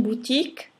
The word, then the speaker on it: boutique: Boutique o U si pronuncia U, Q e U suono K, la E finale muta.